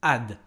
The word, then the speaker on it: add: Eh bien c'est faux, il faut dire to add, add, tout simplement. Il n'y a pas de H au début de ce mot.